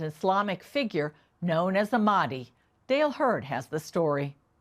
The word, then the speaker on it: Mahdi: So the Mahdi, as an English speaker would pronounce it, it's really Mahdi, which basically means guided.